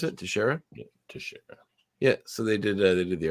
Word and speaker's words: Teixeira: Is that how you pronounce it? Teixeira? Yeah, Teixeira.